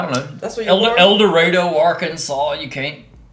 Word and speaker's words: El Dorado: you hit your 40 it's not elder ray duh e-l-d-o-r a-d-u-h-h-h eldorado and yeah yeah because that's just the way people that live there too long pronounce that yeah i'm glad i